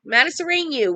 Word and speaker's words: Matasareanu: Emil Matasareanu, I said it right, Matasareanu was born on July 19th, 1966 in Romania.